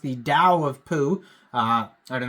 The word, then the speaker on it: Tao: is actually pronounced the Dao of Pooh uh I don't know if you know what book I'm talking about but uh that is how you actually pronounce t a o is Dow so I guess we'll